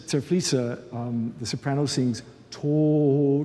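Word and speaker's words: Tod: um the soprano sings tor which rhymes with note but death in this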